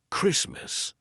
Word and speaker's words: Christmas: So for example, Christmas. The T is in between two consonants, S and M.